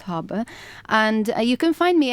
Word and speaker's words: Haber: of a boat or ship No it's like habber but it's pronounced harber and you can find me everywhere really there's